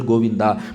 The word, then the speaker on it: Govinda: Bhagavan's name Goinda. It has three syllables in Sanskrit. Goinda. Three syllables. In English spelling different, Tamil spelling different. Then somebody will ask in YouTube, sir, you said three syllable Govinda. But I wrote G O V I N D A. It has seven letter in Sanskrit. It has three syllables. So this Rishi, he taught